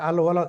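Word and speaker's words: الولد: এখানে আল ওয়ালাদ, এখানে দেখুন এই পর্যন্ত যে উদাহরণগুলো গেল সবগুলো কিন্তু লাম কি হয়নি, উচ্চারণ হয়নি, কিন্তু মাঝখানে আরেকটি দিয়ে দিয়েছে আল ওয়ালাদু ফাকিরুন, এখানে কিন্তু লামটি উচ্চারণ হচ্ছে।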